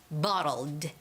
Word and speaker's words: bottled: ending so you you shouldn't just say bottle water bottle water but there's that slight T sound that you have to make which is bottled bottled bottled water bottled